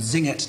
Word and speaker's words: Singet: So in choir two, he starts just the word Singet, two syllables.